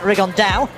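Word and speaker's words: Rigondeaux: That's coming up in about 3 weeks, and Tete's talked about fighting Rigondo, or as he's correctly pronounced with the Spanish accent, Rigondao.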